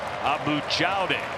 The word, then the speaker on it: Abou Jaoude: this young man's name, the entire year it was Abou. Apparently he went to the North Carolina Sports Information Department and said it's Abou Jaoude, and so now we're